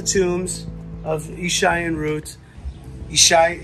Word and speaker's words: Yishai: of isai and root isai is how you say Jesse in Hebrew okay so this is